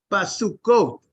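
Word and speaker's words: בַּסֻּכֹּת: and the writing right the reading is plural it is plural the way it's that's the way it's pronounced basuko in Huts in h-u-t-s you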